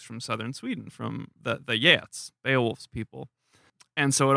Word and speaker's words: Geats: But the reader pronounced it Geats, not Yeats.